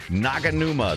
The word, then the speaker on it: Naganuma: credit to where credit is due yep thei naganuma that's how you see it that's how you